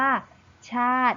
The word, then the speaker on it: ชาติ: นั่น เอง นะ คะ แต่ เรา จะ ไม่ อ่าน ออก เสียง สระ อิ นะ คะ ซึ่ง คำ นี้ เรา จะ อ่าน ได้ ว่า ชาติ นั่น เอง ค่ะ ต่อ